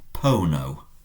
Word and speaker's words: pono: And I put or I place is pono. Has a long O at the start.